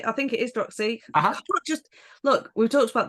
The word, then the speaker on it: Druxy: I think it is Droxy. Just look, we've talked about this. I'm not. Wait, you're Northern. Droxy or Droxy? I did spell it out. DRU. Where has it gone? Droxy. DRUXY. Yes. Droxy.